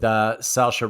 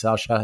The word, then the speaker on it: Saoirse: I think it's Saoirse. That's how you pronounce it.